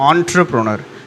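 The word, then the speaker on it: entrepreneur: நெக்ஸ்ட்ஹ இஸ் சக்சஸ்புல் டஷ என்ட்ரபரனர் ஆன்ட்ரபரனர் சரியா இத கரெக்டா உச்சரிப்பு வந்து ஆன்ட்ரபரனர் ஆன்ர ஆன்ர என்ஆர் கரெக்டா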